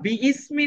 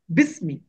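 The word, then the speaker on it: بسم: আমার হওয়া দরকার ছিল এখানে বি ইসমি, কিন্তু আমরা বি ইসমি না বলে কি বলি? বিসমি। বিসমি, এই আলিফটাকে সাইলেন্ট করে ফেলি।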